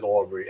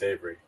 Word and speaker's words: Avery: I apologize for uh mispronouncing your name I said Aubry and it's Avery okay and that's a